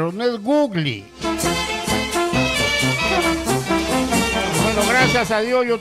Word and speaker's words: Google: pero no soy gringo se dice Google Y por qué porque así se debe pronunciar el Google a ti que te gusta el fútbol pues si no te acuerdas acuérdate del gol dice Google qué cosa pero no googly pues no sea tan